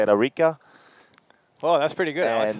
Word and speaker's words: Arica: Presentador oficial Arica Chilean Challenge GoPro 2000. IBA Arica Chilean Challenge presented by the town of Arica. It's you got to say it like this: Ilustre de Municipalidad de Arica.